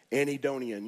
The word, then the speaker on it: anhedonia: day it's the only big word I got anid donian you know what it means it means you